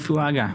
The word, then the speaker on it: Fuaga: defense fuanga. So tackle. So they did go line. So they went for lineman. There we go. Did I say fashioning? Sorry, I meant fuaga. It's how it's how you pronounce it.